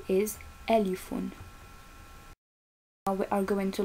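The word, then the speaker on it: ألف: the first letter as i already said is alifun now we are going to learn how to pronounce it so repeat with me because by practicing you can learn easily and faster so repeat with me alifon elephone elephone did you say it good job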